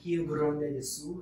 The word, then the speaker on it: Rio Grande do Sul: She is from the south of Brazil, Rio Grande do Sul. Is that correct? Is that how you pronounce it?